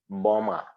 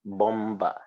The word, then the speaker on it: bomber: what is it called bomber so you don't call it bomba even though b is there it is silent you say boma so